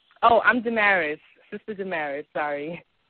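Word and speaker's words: Damaris: well I'm sorry what's your name oh I'm dearis sister dearis sorry how you spell it d a m a r i s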